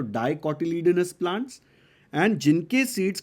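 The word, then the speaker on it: dicotyledon: बोलते हैं डाई कॉटिलीयन डाई कटलिन fast बोलने जाओगे तो स्पेलिंग में मिस्टेक हो सकती है अच्छे से बोलो डाई कटडाउन नहीं डीआई ई नहीं है ये डाई का मतलब टू होता है तो टू पार्ट्स में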